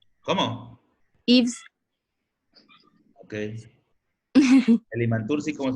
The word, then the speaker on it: Yves: Yves con Y primero, V-E-S, que creo que no se pronuncia así, ¿verdad, Balam?